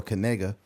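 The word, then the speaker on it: Knigga: kiga right but he's he pronounces it Noah kega it's spelled last name k N I G G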